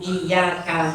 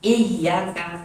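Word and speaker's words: إياك: Falau khaffafal ya'a min iyyaka, seandainya diringankan, artinya tidak dibaca tasdid lafaz iya ya, iyyaka tasdidnya dibuang, iyyaka dibacanya iyyaka min iyyaka, lam tasihha qira'atuhu, tidak sah bacaan Al-Fatihah.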